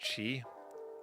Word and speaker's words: qi: It's pronounced chi.